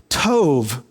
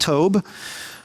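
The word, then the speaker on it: טוב: The word that's used for good in Micah 6:8 is the word tov. Tov is the modern pronunciation. Back then, they probably would have said it with a B at the end, tob.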